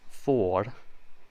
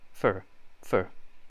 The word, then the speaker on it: for: turning red is change to pronounce this well think of a dog and playing tennis don't say oh for instead say it more like the word fur but say it fast for for think of the